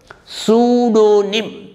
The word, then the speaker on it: pseudonym: psycho psychology psalm pneumonia pseudo pseudonym or some examples for the words p silent we write p but we don't pronounce it rule number 22 the